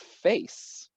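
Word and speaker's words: FAISS: whatever search the acronym f-i-f-a-i-s-s happens to be pronounced face yeah AI semantic similarity yeah so that can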